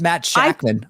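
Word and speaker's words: Shakman: the K oh my God we wrong it's Matt shackman we're IDI I was like there's no end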